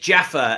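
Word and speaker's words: Djaffer: Hi, it's Rob Moore here, and I am with Ed Jaffer, and Ed's surname is spelled D-J-A-F-E-R. He doesn't want to get mixed up with Jaffa Cakes, which he's never heard before.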